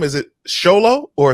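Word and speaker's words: Xolo: how do you say his name is it sholo or solo Zolo yeah what is he thank you so when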